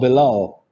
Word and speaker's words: Bilal: How about Bilal?